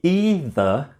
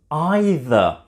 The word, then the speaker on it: either: let's think about pronunciation you've probably heard people say either and other people say either both of them are correct either is more common in America and either is more common with British English speakers both of